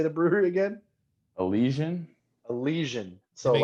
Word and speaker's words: Elysian: Elysian.